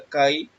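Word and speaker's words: καί: Primero vamos a la palabra y, que es la G2532, se pronuncia kai, significa aún, así, entonces, también, así, cuando, de la misma manera, en verdad, pero, ¿por qué?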